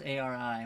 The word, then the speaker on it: Ari: Is it Ari or Ary? What is a r i? What would you think that is? Ari, I think so.